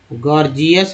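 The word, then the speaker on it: gorgeous: गॉर्जियस में पहला जी को ग, दूसरा जी को ज बोलते हैं, गॉर्जियस।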